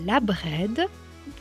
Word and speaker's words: Abred: drudisme un peu plus profond, on parle de la Bred qui ça qui s'écrit A B R E D Gwenved qui